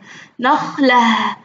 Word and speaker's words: نخلة: نخلة، بس هم حاطين عليها سكون، نطقناها تاء؟ لا، نطقناها هاء.